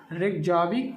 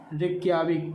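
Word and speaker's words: Reykjavík: और आइसलैंड की अभी आपने कौन सा राजधानी पढ़ा था, रेकजाविक या रेक्याविक, ठीक। वो प्रोनाउंसिएशन में इधर उधर होता है, बाकी आप याद रखिए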